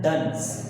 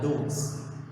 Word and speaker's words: duns: Shivalis are known as duns or dunes. The valleys lying between lesser Himalayas and Shivalis are known as duns. D-U-N-S. Duns. We can pronounce dunes or duns, whatever.